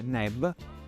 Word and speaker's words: neb: Infine il canestro che si legge neb e vuol dire signore.